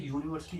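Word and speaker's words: university: अब जैसे यूनिवर्सिटी, एक और एग्जांपल ले लो, यूनिवर्सिटी। अब यूनिवर्सिटी है, यूनिवर्सिटी में यू देखो, यू से स्टार्ट हुआ है, यू का कॉन्सोनेंट साउंड क्या आता है? जे, ठीक है ना।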